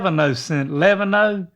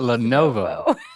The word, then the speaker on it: Lenovo: Leano L E I don't know. Oh, you're talking about Lenovo.